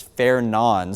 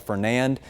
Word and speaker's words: Fernand: I've been doing some digging and watching other meteorologists and National Weather Service employees pronounce it as Fernan. So obviously it looks like Fernand. The D is silent.